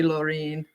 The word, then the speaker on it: Laureen: new link honey my name is pronounced like Maureen but with an l so sorry Laureen so sorry yeah it's